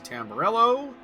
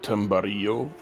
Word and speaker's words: Tamburello: Arsenault is defending the inside against Sean Kenny into Tamburello. And he'll hold on, I think. Yep. Sir, I believe it's pronounced Tambarillo, since this is from España. It's Italian, sir.